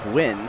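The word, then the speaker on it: Huynh: Uh well, my friend Philip Win says win. Oh, that's probably more correct.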